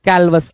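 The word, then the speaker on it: callous: कैलवस असभ्य या फिर कठोर, कैलवस प्यारा वर्ड है भाई। कालवस कुछ लोग पढ़ते हैं कालवस, ठीक है, कैलवस भी होगा, कालवस भी होगा, कोई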